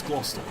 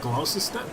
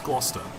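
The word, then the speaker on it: Gloucester: like gloss glister like glister no it's gler it's just a weird spelling and there's so many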